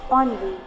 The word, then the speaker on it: ennui: The word is onvi. It's not ani or something else. It's onvi.